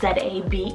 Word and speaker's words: Zabe: particular name means judgment Warrior Z AB spell z a be e zabe now this is kind of cool